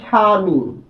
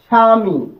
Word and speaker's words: স্বামী: এরকম কিন্তু বলি না, আমরা এই বর উচ্চারণ করি না, আমরা বলি স্বামী, স্বামী, এরপর কিন্তু উচ্চারণ করি না।